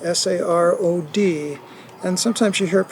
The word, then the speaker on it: sarod: And Dad played the sarod, S-A-R-O-D, and sometimes you hear it pronounced sarod, but as a Bengali, the S sound is pronounced as an SH, so I always learned it as sarod.